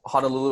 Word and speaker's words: Honolulu: let me go over this real quick so Honolulu and Kaneohe were the main - yes okay so Honolulu is gonna be pronounced Honolulu so Honolulu and then Canio head